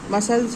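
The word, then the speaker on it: muscles: फिर आपका आता है सी साइलेंट में, तो जैसे सीजर्स हैं, मसल्स हैं, इंडेक्ट है। तो यहाँ पर देखो सी और आपका सी, यहाँ पर सी साइलेंट है, ठीक है, सी साइलेंट है।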